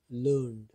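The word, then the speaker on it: learned: अब वो कहता है we pronounce it एज लर्नड, आई डी, ई डी नहीं पढ़ा, हमारी आवाज़ जो आ रही है एड नहीं आ रही, इड आ रही है।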